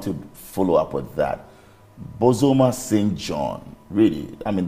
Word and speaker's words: Bozoma: So people say Bozoma and No. Bozoma. Bozoma. That's Bozoma. A Ghanaian pronunciation.